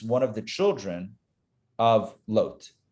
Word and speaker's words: Lot: Moab is one of the children of Lot, or Lot, depending on how you want to pronounce his name. I'll go Lot because that's the Hebrew pronunciation is Lot.